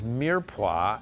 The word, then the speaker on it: mirepoix: Now, you'll have to bear with me because my French is a little rusty, but what is Mirepoix, and am I saying it right? You did.